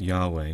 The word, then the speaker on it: Yahweh: If you say Yahweh really, really slowly, you say E-A-U-A, E-A-U-A, E-A-U-A, E-A-U-A. You say it fast, it's Yahweh.